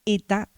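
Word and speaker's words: ήτα: Yo les había dicho que el nombre era ETA y actualmente se dice ITA.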